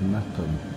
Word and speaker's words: Meopham: Right, this is Meopham, spelt Meopham but pronounced Meopham.